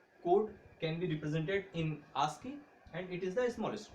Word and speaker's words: ASCII: So ASCII stands for American Standard Code for Information Interchange, pronounced as ASCII.